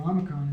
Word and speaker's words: omicron: So it's pronounced, if you look at the pronunciation guide here, for alpha is as in father, and for Omicron it's as in log. Not a whole lot of difference if you practice saying father, log.